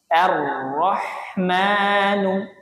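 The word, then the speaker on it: الرحمن: ee kasrah ya sama-sama Arrahman ro ro ro ro tebal Jadi bukan Ra tapi ro arrahmani arahman bersama-sama arahman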